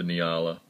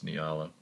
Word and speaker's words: Nyala: is call it the niala niala whatever they gonna pronounce it as i think it's nialla i believe it's named